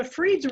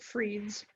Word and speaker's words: Fried: r i e d it kind of looks like fried to me like fried foods but I believe they pronounce it Freeds okay so then it